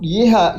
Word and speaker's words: Yeha: But yeha yeha is the incident temple itself.